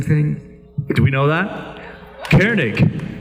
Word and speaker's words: Koenig: means the same thing do we know that Cairn ik k OE n e IG it's a German